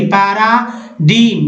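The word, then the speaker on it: paradigm: जैसे एग्जाम्पल में देखिए पैरा, देखिए पैराडीम, पैराडीम में जी को नहीं पढ़ना, यानी नमूना, उदाहरण।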